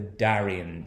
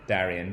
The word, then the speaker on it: Darién: started something called the darién scheme now as I say that's my english-speaking pronunciation of this place because it's not at all an english-speaking country originally our area Darrien Darrien is actually located